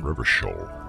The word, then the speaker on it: Revachol: Revachol. Well, now we know how it's pronounced.